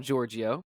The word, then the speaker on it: Giorgio: So all right, we'll just call him Giorgio.